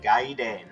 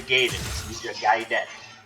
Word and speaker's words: Gaiden: of ninja gaiden fame and yes i am pronouncing it right gaiden it's a japanese word in case anyone is wondering it's not ninja gaiden don't ever let me hear you mispronouncing it